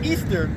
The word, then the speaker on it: Ishtar: Ishtar, which is pronounced Easter, was a day that commemorated the resurrection of one of their gods that they called Tammuz, okay?